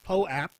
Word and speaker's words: POAP: Moto Brigade said Poap is how you say it.